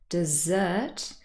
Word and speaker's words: dessert: words i always say think about dessert being also the last meal usually we eat it after the main course and the last syllable is stress so hopefully that helps